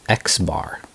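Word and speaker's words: x̄: So when you only have a sample, this is called a, how do we pronounce this one? This one we call X bar.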